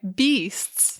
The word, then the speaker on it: BYSTS: social media we have like in Brackets like beasts like just to like let people know that's how it's pronounced cuz we do get a lot of